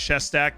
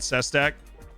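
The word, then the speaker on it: Šesták: yo lu yubikov welcome it's pronounced chest act not sestak does he have the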